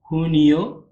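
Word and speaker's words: junio: ஜே வந்து நம்ம இங்கே வந்து ஹோட்டா. ஹோ ஹோ. அது அந்த மாதிரி தான் சொல்லுவோம். இப்போ வந்து அதுக்கு ஒரு உதாரணம் பார்த்தீங்கன்னா, 2 உதாரணம் இருக்கு. ஜூன், ஜூலை வந்து போட்டிருக்கேன். அத வந்து எப்படி உச்சரிக்கணும்னா, ஹூனியோ, ஹூலியோ. ஹூனியோனா ஜூன்.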